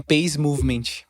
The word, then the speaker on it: Peace Movement: Se chama Peace Movement. Peace Movement. Se escreve paz, mas se lê Peace.